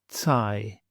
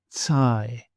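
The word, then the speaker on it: τσάι: And then we want an NG sound as in the word singer. And the Greek example, angelos, angelos. Then we have a tav and a sigma together. So what we want is a TS sound, as in the English word cats, cats.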